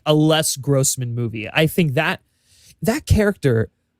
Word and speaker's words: Les Grossman: Les Grossman, yeah. Yes, Les Grossman. I think that's the avenue you want to go. And everyone has been wanting like a Les Grossman movie.